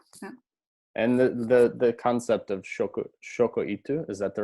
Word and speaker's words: shokuiku: And the concept of shokoitu, is that the right pronunciation? Yeah. Shokuiku.